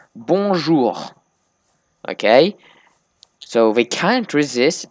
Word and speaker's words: bonjour: They say bonjour, but they mess up the last syllable and they say bonjour. And I keep telling them it's bonjour, but they can't pronounce it.